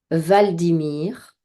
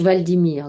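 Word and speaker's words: Hvaldimir: ça commence par oui si h valdimir donc je pense que le H se prononce pas il est en Norvège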